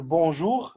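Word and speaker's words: bonjour: اوكي فهنا بقول بونجور هنا نطقت صوت الغين.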